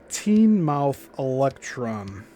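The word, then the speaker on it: Teignmouth Electron: Of most interest is the case of the teen mouth electron. That's spelled T E I G N M O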